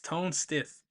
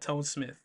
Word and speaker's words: Tone Stith: The features are Ricardo Banks, Tone Stith. I thought it was Tone Smith, but it's Tone Stith. It sounded like I said it with a lips, but it's not. It's Tone Stith, not Tone Smith.